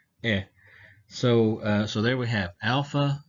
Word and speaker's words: alpha: And so, all right, so if we look at these, alpha has a long A sound like father, ah, ah.